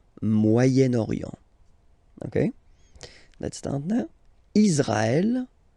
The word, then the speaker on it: Moyen-Orient: Okay, but then as you've got this vowel after, okay, you get to make the liaison between the two, le Moyen-Orient, Moyen-Orient.